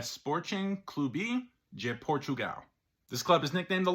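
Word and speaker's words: Sporting Clube de Portugal: of where they're located Portuguese pronunciation of the club name is essentially a sporting cluby je Portugal this club is nicknamed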